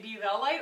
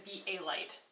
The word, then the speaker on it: Be A Light: I have no idea whether I've been saying be Val light or be a light the whole time when it is be a light in case I've been